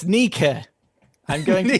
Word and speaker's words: Nike: uh and is now pronounced a bit like nee key end of le cadobili nikki okay sir are you willing to change your stance at all that's much more like nike yeah i i'm pretty